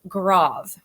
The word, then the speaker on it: Grave: on your screen but it's actually a german pronunciation and in german it's pronounced grav all right now this